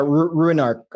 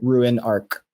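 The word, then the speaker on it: Ruinarch: Ruin Arc. So it's like ruin, like you're ruining something, and monarch. So like Ruin Arc.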